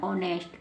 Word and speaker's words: honest: अब एच को क्यों नहीं पढ़ा, एच के तुरंत बाद क्या है, ओ। एच के तुरंत बाद ओ है, तो एच साइलेंट रहेगा, केवल हम ओ से स्टार्ट करेंगे, ओनेस्ट। क्या बन गया, ओनेस्ट।